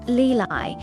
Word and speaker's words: Ly Ly: The youngest, Lii pronounced Leeli, had eyes that sparkled like dew and a special seashell.